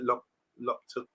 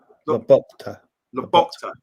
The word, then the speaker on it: Lobotka: Bart saying here, will McTominay get game time in Naples, as they've got the Polish guys at Loptopka? Pronounce that for me, guys. Loptopka? Loptopka? Lobotka. Lobotka, I think.